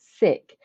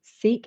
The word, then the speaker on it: Sikh: of my life because you've just pronounced it sick, and I've always called it Sikh and Sikhism. Have I been doing that wrong all the time? There's never, I don't think there's a right or wrong.